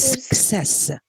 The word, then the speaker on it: success: how do we pronounce how do we pronounce this combination of these two letters cc is success we pronounce this as yes yes we pronounce it using two sounds yes so we have uh ke and sex success but in account